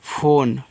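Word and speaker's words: phone: Last में जो इ आता है उसका उच्चारण हम नहीं करते हैं।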